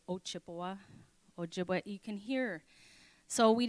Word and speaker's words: Ojibwe: So this Chippewa is a mispronunciation of Ojibwe.